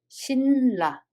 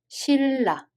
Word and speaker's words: 신라: So first one, we don't read it as 신라, but we read it as 실라.